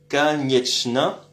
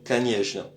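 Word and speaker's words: конечно: Alors canjna au fait c'est canetna mais ça se prononce comme kanjna.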